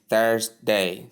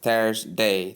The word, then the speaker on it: Thursday: T not ths or toss I don't know what people call it th note that then you have day when you combine them you get exactly what we pronounced before which is Thursday th Thursday Thursday th Thursday do you